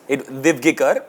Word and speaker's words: Divgikr: I think you didn't give it to me because you've been getting my surname wrong all these years. It's not What true. is it? Divgikar.